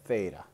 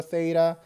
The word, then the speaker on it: theta: can't find it well it's spelled it this way and we read it as theta okay so if you